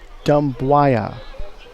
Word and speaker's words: Dumbuya: Last name spelled Dumbuya. And I'm pronouncing it Dembuaya.